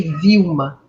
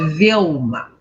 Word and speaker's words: Velma: Só que aqui tem um Lzinho, e tem que lembrar que o L no inglês é um L bem pronunciado, porque no português o nosso L tem som de U, não é? Por isso que eles me chamam de Vilma. Mas em inglês ele me chama de Velma, ok?